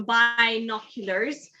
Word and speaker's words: binoculars: So in this case, the binoculars, and it's pronounced bi. So binoculars.